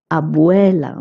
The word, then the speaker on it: abuela: Abuela means grandmother. Okay. B U E in Spanish is pronounced as bu as I told you when I was teaching you the greetings.